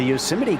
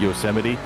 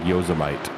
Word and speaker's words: Yosemite: The car in second right now, WWZ Yosemite. When I was a kid, I did not know exactly the right way to say it, and I always said Yosemite.